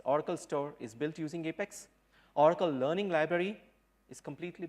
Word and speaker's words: APEX: finally convey to you its apex and not up X so rest assured I would like you to pronounce it as apex going forward and please let others whose you call it as a pets tell them it's apex please okay I don't have